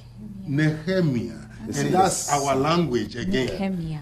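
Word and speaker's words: Nehemiah: NE neiah yes right the proper Hebrew pronunciation is neemia neemia and that's our language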